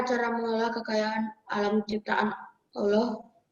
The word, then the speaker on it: Allah: Bagaimanakah cara mengelola kekayaan alam ciptaan Allah? Sebentar, bacanya bukan Allah ya. Oh ya, Allah. Nanti Allah itu mengarah ke bahasa Arab. Kita pakai bahasa Indonesia bukan Arab ya.